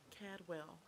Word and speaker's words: Cadwell: See, they trying to take me to Cwell. I don't got that or excuse me, Cadwell.